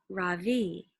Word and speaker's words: Ravi: My name is not Ravi. It's pronounced Ravi.